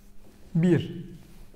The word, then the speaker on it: bir: Let's start with one, which is bir. Bir. Bir. I say bir now, but you might hear it like bir, bir, like bish, something like this, because we somehow make